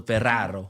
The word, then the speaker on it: Ferraro: Well, it's 2 R's, so Ferraro. Ferraro. Okay, I like that. Thank you for you're keeping me honest, Jeremy. You know what I mean? Just roll your R.